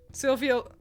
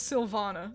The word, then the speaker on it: Sylvana: what i say anyway sylvia i've said her name wrong by the way it's sylvana sylvana looks like a ferret